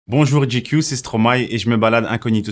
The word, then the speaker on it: Stromae: qu'on prononce trop mal moi je le prononce le stroma après les françaises qui dit stromae les anglophones et disques lucho mais franchement vous le dit comme vous voulez hein moi j'aime bien en